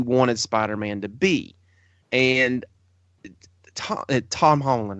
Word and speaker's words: Tom Holland: I can't give it the crown because Homecoming was everything you wanted Spider-Man to be, and Tom Holland, right?